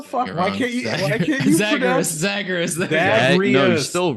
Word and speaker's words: Zagreus: Zagreus.